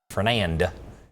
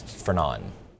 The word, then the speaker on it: Fernand: So we got the next one, and it is Fernand. So I guess you just don't pronounce the D. So it's not Fernand, it's Fernand.